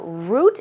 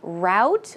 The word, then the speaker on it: route: means beautiful scenery so route is perhaps a path or a way or a road right route or route it's pronounced differently so it can be pronounced both ways but she says we